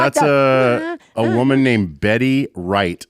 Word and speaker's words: Wright: That's a woman named Betty Wright, spelled with a W. Yeah.